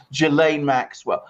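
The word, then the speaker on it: Ghislaine Maxwell: a soft G and there's no you don't pronounce the SA jillaine Maxwell but whether all these three things the the Dersch of its filing the interviewing of Prince Andrew the closing in on Jill a Maxwell whether these are all connected and whether something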